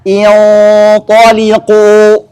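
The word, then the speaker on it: انطلقوا: Berarti hamzah wasal di sini harus diberi harakat kasroh. Jadi bacanya intaliqu.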